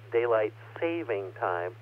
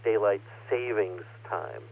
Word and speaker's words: daylight saving time: to daylight saving time yes it is written and pronounced daylight saving time not daylight savings time tonight in just a